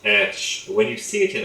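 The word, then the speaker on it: ř: The actual letter itself is pronounced ersh.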